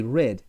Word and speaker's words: read: No va a cambiar, pero acá sí cambia la pronunciación. Read y read. Como el color rojo, se pronuncia igual que el color rojo, son homófonos.